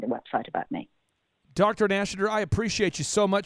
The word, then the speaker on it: Nashater: We have a lot of Oklahomies listening that I guarantee you if they try to spell that, we're going to get it wrong. Well, maybe the name is Nashater.